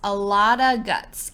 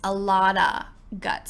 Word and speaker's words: a lot of guts: Usually, we mix this all together, and we would say, "It takes a lotta guts." A lotta guts.